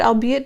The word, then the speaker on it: albeit: The archaic word albeit does not rhyme with aid, you see it.